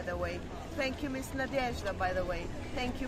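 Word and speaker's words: Надежда: Nadezhda.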